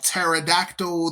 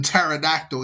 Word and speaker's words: pterodactyl: The P is silent, like pterodactyl. The P is silent. You just use the T in pterodactyl, even though there's a P in the front.